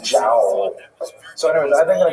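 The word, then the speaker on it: João: figure out with her, how do you say that? J-O. She thought it was like wow. Could you imagine naming your son wow? So she actually said Jow.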